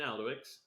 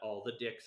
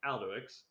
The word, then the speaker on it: Alduics: But yeah, this has been Alduics. That's how you pronounce my name. It's not all the dicks or anything like that. It's Alduics.